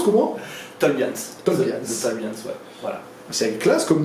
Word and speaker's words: Tolbians: le S ouais on a plusieurs ça se prononce comment tolbians Tol tolbians ouais voilà c'est classe comme nom ça vient